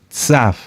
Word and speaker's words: Tzav: Tzaf. Tzaf se escribe T de Tito, Z de zorro, A de Alberto y V, o V de vaca, V, o V labiodental.